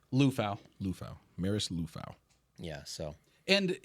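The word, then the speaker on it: Liufau: they got six right now so how you pronounce his last name luou luou Maris luou yeah so and he's I guess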